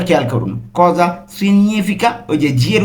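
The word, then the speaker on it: cosa significa: তাহলে এর মানে কি এর ইতালিন কি হবে কজা সিনিফিকা কজা সিনিফিকা উচ্চারণটা খেয়াল করুন কজা সিনিফিকা এর উচ্চারণ কিন্তু উজ্য মানে এর উচ্চারণটা হচ্ছে না।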